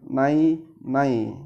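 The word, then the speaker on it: 奶奶: dituliskan menggunakan huruf n nai nai dan dilafalkan atau dibacakan juga naik-naik cara bacanya seperti pengucapan naik-naik hanya tidak menggunakan huruf k jadi naik nai nai kau lihat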